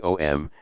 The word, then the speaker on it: Om: and this is the OM and the OM only because these three letters a m pronounced in combination as om May well be the